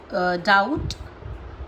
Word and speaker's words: doubt: Bomb, climb, calm, crumb, debt, lamb, doubt, lamb, limb, subtle. Got it? समझे? M के बाद में और T से पहले तो बी जो होता है वो साइलेंट हो जाता है।